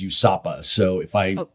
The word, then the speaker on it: USAPA: I think you know our you introduced a US alcohol policy alliance that the acronym we pronounce is USAPA.